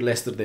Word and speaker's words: Leicester: Hayır, Leicester'da yaşıyorum ben. Leicester diye okunuyor. Leicester diye yazılıyor.